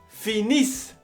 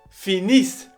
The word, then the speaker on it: finissent: finit ont fini nous finissons vous finissez ils finissent elles finissent ça c'est la terminaison de tous les verbes